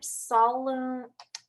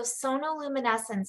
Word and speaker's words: sonoluminescence: Okay, so I just looked up sonoluminescence. Sometimes I don't pronounce the words right. And as I look up so like sonar, right? Sonoluminescence. I just love the word, really.